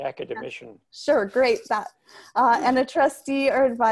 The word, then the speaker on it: academician: others a national academic academiation is that how do you pronounce that it's the academician sir great that uh